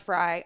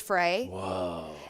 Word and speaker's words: Frey: name right so um it's pronounced fry obviously but everyone says fray and genius so I am French so I'm for a god I sort of just got tired of people saying fray what a great way